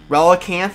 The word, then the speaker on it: Relicanth: This is my favorite holo from the set, Relicanth. Is that how you say it? Relicanth? Relicanth? Relicanth, yeah.